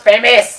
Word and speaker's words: FAMAS: needed ammo for my famas that's just like famous it's pronounced famous hey we should make